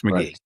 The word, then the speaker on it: Magee: uh the name though not spelled the same way pronounced the same way Max McGee I would also um